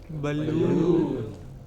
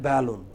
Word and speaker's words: balloon: Balloon. But wrongly we say balloon. It is not balloon. It is balloon.